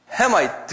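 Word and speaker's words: Hamite: 근데 액센트가 다 있어요, 영어는. 한번 발음해. 쉐마이트 그래. 쉔, 앞에 쉔에 있어요. 그 다음에 햄도, 헤마이트, 그래서 헤마이트 그런 거 아니에요. 헤마이트. 그러니까 도레미파 솔로 올라가요.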